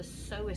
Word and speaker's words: psoas: What I'm also going to show you is the psoas stretch. That's spelled P-S for sugar, O-A-S for sugar, P-S-O-A-S, so it's got a silent P.